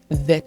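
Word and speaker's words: vèt: Jeli vert, vet is how you say green in Haitian Creole.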